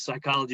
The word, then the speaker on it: psychology: ones a little tricky because psychology has got that sort of silent p but it counts as